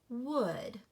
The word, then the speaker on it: would: oh you says oh do you hear the L no you do not the L is silent and so it is wood it sounds just like